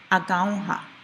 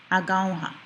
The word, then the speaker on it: agaunha: Our next word, agaunha. That has a short stress on there. In Kanyageha, when there's more than one syllable in a word, we stress usually the second last syllable, agaunha.